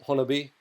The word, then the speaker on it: Honobia: of the siege of honi now I know most people don't know how to pronounce that but according to the locals of Oklahoma of that area it is Hony and uh let me